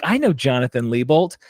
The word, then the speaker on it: Lebolt: like I know Jonathan lebolt am I pronouncing your last name correct is it lebolt incredibly you are pronouncing it correctly that is very rare